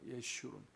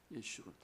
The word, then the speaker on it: 여수룬: 함께 한 때로다 자 여기서 이제 여수룬 정확한 발음이 예슈론이에요 예슈론 예슈론 여기서 이제 예시론라는 말이 이게